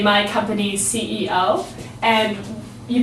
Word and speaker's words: CEO: company usually the boss you say my company's CEO and you pronounce it like that not Co CEO the next thing you might see in